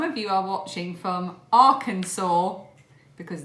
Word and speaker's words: Arkansas: you are watching from Arkansas because that's how you say it not Arkansas as I had been saying it because I'm a stupid